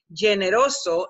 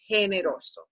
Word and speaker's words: generoso: In English filters you, taking you to general or generous, and you would say generoso, and that does not exist. You have to say generoso, okay?